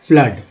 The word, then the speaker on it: flood: लेकिन अगर लिख दिया जाए FLOOD में डबल ओ का उच्चारण क्या होता है, फ्लड, है ना, फ्लड।